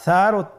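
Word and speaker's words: ث: আর সারও তিনটি নুক্তা রয়েছে। সেটা হল তার উপরে।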